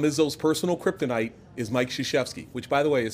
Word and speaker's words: Krzyzewski: Tom Izzo's personal kryptonite is Mike Krzyzewski, which, by the way, is spelled Krzywzewski. Krzyzewski.